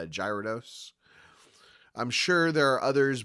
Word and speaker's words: Gyarados: First of all, until he showed up in the anime, I pronounced him Gyarados, sometimes with a hard G, sometimes with a soft G, Gyarados.